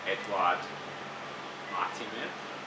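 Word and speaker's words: Eduard Artemyev: So yeah, the movie obviously is done by Andrei Tarkovsky, and this is done by Eduard Martinev. That's how you pronounce it.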